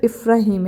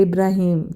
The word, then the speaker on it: Ifrahim: मेरे बेटे का नाम इफ्राहिम है, ही इज़ नॉट इब्राहिम, ठीक है।